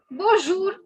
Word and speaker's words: bonjour: First, it is not bonjour, so don't pronounce the M. Okay, don't make the mistake of pronouncing the N.